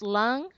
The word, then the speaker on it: Lung: Bob is it pronounced lung lung yep just like you breathe with all right um I'm